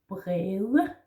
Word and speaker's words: bred: Then we have bred, meaning it could be wide in plural or in the definite form. Bred with a soft D.